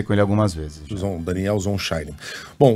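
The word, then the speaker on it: Zonshine: A pronúncia do nome do embaixador é Daniel Zonshein, né, Coutinho? Foi você que fez a entrevista? Exatamente, eu já conversei com ele algumas vezes. Daniel Zonshein.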